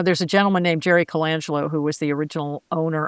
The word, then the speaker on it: Colangelo: So I called my friend and I said, how would you say this guy's name? She said, Colangelo.